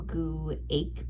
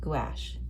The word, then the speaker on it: gouache: Sure, it's just right here, and it's actually pronounced gouache. Cam laughed. His pronunciation with the hard CH sound at the end of the word was not even close.